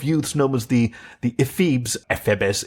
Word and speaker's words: Ephebes: Ephebes is the proper Greek pronunciation.